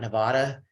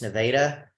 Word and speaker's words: Nevada: one in Nevada, because that's the way you pronounce that. It's not Nevada, it's Nevada.